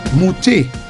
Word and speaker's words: mouté: Mouté. M-O-U-T-E, pronounced as A.